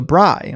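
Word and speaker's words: braai: says, "In South Africa, we call barbecue bra e pronounced guy with br." Oh, so bri.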